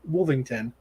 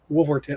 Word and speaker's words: Wolverton: in this is the last story by basil wolvington wolverton i can never say his name basil um